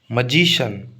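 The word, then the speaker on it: magician: पे स्ट्रेस आएगा electrician मैजिशियन मैजिशियन ठीक है जी पर स्ट्रेस आएगा मैजिशियन ठीक है पॉलिटिशियन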